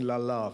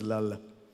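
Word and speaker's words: Lalla: I grew up, again, you know, in English we keep saying Lala for some reason. The proper pronunciation is Lala, so that there's a schwa at the end.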